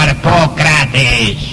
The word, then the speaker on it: Harpócrates: Los místicos de los misterios de Eleusis pronunciaban aquel nombre en la siguiente forma: Harpócrates.